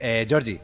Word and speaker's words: Georgie: menos cómo se escribe Georgie, Georgie. Ah, Georgie. Vale, Georgie. Con G. Tienes que pronunciar bien la G. Como si Georgie. fuese a echar. Ay, como si fueras a echar un guapo.